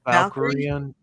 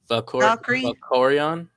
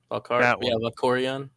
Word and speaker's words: Valkorion: Which Emperor? Valkyrian. Valkyrie. Valkorion. Valkorion. Yeah, with the I twins. thought it was Valkyrie. That one. That's the way I've always read it.